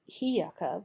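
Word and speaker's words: إياك: we ask Aid here the Hamza of iyaka properly hiyaka with Silent Age is disjunctive and therefore its pronunciation Remains the Same at the beginning and in the middle of the sentence or to put it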